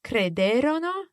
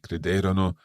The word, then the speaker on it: crederono: Again, we have these two options, crederono or credettero. Okay, crederono, credettero. But in each case, watch the stress. Esatto. The third last syllable.